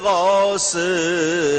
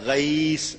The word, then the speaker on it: غوث: غوث اصل تلفظ ہے، غیث اصل تلفظ ہے. اردو میں غوث کہہ لیتے ہیں، غوث عربی میں غیث.